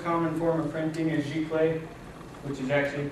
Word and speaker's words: Giclée: The most common form of printing is Giclée, which is actually pronounced Ziclée. It comes from a French word that was coined in 1991 by Jacques Dugan.